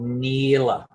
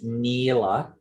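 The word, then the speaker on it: नील: got this place called Nila or Nile. So in Sanskrit, the color blue is Nila. We may not pronounce the A and just say Nil, but we always say blue.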